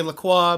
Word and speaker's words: La Croix: my Cran Raspberry LaCroix, aka La Croix, but they technically pronounce it LaCroix.